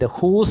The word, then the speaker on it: whose: So the second line, you can find whose hide. Her sound is repeated, even though the word starts with a W, the pronunciation is her.